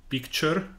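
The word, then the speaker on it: Pikchr: There is one called Picture, which is spelled P-I-K-C-H-R, and another one called Kroki, which are online tools.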